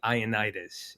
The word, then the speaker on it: Ioannidis: I get it, but ultimately, the consolation was Ioannidis. It rhymes with Leonidas.